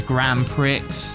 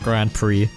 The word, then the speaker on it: Grand Prix: like 15 minutes there's like event races there's Grand Pricks there's mini Grand Pricks and CH Ben sorry it's t you to sorry it's I I hate to break it to you but it's it's pronounced Grand Prix oh yeah sorry but I saying it wrong